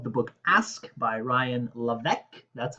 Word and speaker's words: Levesque: summary review of the book Ask by Ryan LC. That's how it's pronounced.